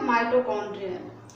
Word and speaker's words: mitochondria: इधर है माइटोकॉन्ड्रिया और इधर है माइटोकॉन्ड्रियन, ये ए एंड इधर ऑन, ठीक है।